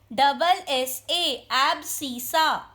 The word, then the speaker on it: abscissa: ABSCISSA, abscissa. Pronunciation abscissa.